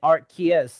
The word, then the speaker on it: Arceus: looked into it and archaea is actually the proper english pronunciation look what did this